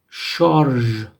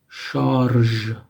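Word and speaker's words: شارژ: So this word, charge, charge, means charge, like when you charge a battery or something. Charge, which is taken from French.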